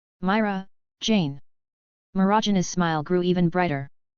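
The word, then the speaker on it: Mirajane: I Myra Jane. Roads hesitated for a moment before mimicking her pronunciation. Myra Jane.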